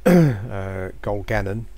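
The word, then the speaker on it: Gil-galad: So I've got to go back and tell Gil-Gallen, I should say, as that's pronounced.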